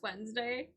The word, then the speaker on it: Wednesday: save yes I do Wednesday I know it's pronounced Wednesday but when I was in school I would